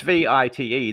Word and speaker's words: Vite: It's a French word. See? So it's technically. So it's French. So it's Vite.